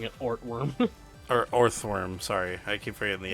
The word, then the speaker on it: Orthworm: I will say, Ortworm's height.